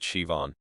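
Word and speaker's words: Siobhan: In Ireland again, an American tourist saw the name Cob N and fumed, "There's no V in this. Just spell it, Shivon.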